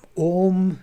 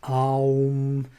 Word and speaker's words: Om: Well, Om is Om. It's how we pronounce it in the Veda. But Aum, how we pronounce it is in Tantra.